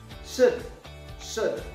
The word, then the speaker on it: should: not business it's business should without l yes yes u is